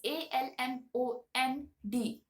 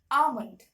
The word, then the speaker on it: almond: it as almond right they pronounce the L uh in the word but actually the L is kind of silent and you do not